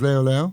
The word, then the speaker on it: เร็ว: Why is the same as leo? Yes. Why? Why หน่อย That sounds Chinese. Well, yes, similar. Why? Why. Which is the same as leo or reo if you say it properly in Thai.